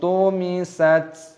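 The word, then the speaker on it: طمست: Fa'idan nujumu tumisat, tumisat. Taknya berharokat sukun, maka kita baca tumisat.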